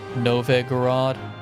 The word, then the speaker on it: Novgorod: All long O's. Novgorod.